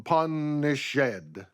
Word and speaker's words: punished: follow the meter correctly it would be delivered some shall be pardoned and some punish shed naturally you wouldn't stress